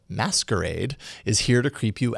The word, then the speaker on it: MSQRD: way an app called msqrd but meant to be pronounced as masquerade is here to creep